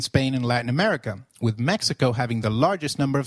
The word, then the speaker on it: Mexico: Did you notice that the X in Mexicano is pronounced as H? While X is usually pronounced as X inflexible, it is pronounced as a throaty H in the words Mexico, Mexicano, and Oaxaca, which is a state in Mexico.